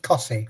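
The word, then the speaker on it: Costessey: You have weirdity is pronounced curtsy or something like that. Close cussy. They stuck te in for no reason. What? Just cussy.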